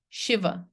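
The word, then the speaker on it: Śiva: see Lord Shiva right but it's really authentically you want to pronounce it this way that's not an accent you want to you want to do it this way Shiva and sometimes you'll see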